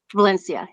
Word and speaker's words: Valencia: Am I saying it right? Is it Valencia? Valencia. Yeah. Yeah.